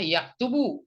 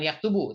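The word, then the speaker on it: يكتب: Tapi di sini karena ada lam amr maka dia bacanya yaktub, bukan yaktub ya, bukan yaktubu tapi yaktub saja karena ada lam amr ya, sehingga fi'il mudhari ini berfungsi sebagai kata perintah ya.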